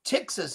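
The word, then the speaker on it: ptyxis: I think you pronounce it Philotaxis. Well, no. Tixis is P-T-Y-X-I-S.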